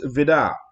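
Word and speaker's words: Vide: And so it was signed by Hans Vidar, and that's how you pronounce it. It's spelled V-I-D-E, but it's Hans Vidar. It's how you pronounce it.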